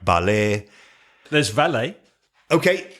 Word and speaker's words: valet: There's valet. Okay, valet.